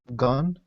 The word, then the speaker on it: gone: oh sorry gone gone so O's so that sound is more like your mouth is rounded gone gone gone and then the other Gone Gone gun gun my mouth is a little bit more relaxed gun versus gone and done like done